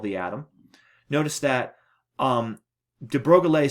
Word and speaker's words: de Broglie: I pronounced that right his last name is French some people say de Bruyne Gil but I think it's de Broglie um came up with